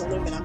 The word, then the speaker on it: aluminum: Except that I pronounce it, you know, Canadians and Americans are agreed that the pronunciation is aluminum.